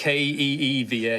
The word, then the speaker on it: Kyva: KYVA. I did that on purpose just to be annoying. Yeah. It was Keeva. I knew everybody would spell it with an I, and I went, nah, it's a Y.